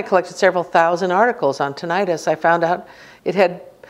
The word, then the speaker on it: tinnitus: tonight I'll say tinnitus sometimes they say tinnitus westcoast people tend to say tinnitus it doesn't matter how you say it if you really were living in the time when the term was developed you should say tinnitus because it's Latin it means bells ringing